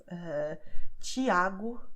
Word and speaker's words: Tiago: Then you have the TI, which always will be pronounced like ch in match.